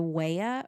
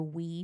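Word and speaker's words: Wea: potawatomi tribe october 2nd it's either the waya or the we tribe it's said two different ways it's spelled w-e-a so it's either waya or we couldn't get firm either way because i tried um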